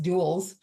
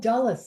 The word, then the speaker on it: Dulles: up at Dallas airport which I know is not pronounced duels because that's what it looks like right because I'm like